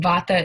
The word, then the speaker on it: Vata: first one is called Vata is the correct pronunciation Vata is the principle of movement of motion in